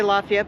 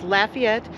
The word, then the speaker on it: Lafayette: when I started Lafayette and that's how they pronounce it yeah Lafayette I want to say Lafayette but it's Lafayette and we there's a we found an events